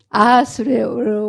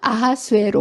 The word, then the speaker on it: 아하수에로: 에스더 왕비의 남편인 아하수에로 왕. 발음도 어렵네요. 이게 다른 발음이 아니라 헬라식으로 하면 크세르쿠스고요. 히브리 발음으로 하면 아하수에로 왕.